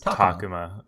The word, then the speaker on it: Takuma: And then, at the same time, Takuma, I feel like it's because I wasn't putting the emphasis on the right syllable that it was just like, this isn't how that works. It is Takuma, yeah.